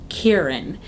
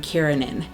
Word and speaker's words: Kieran: The name that came in at number 9, we only vetoed it because of my mispronunciation on a regular basis, and I think I finally got it, which is Kieran.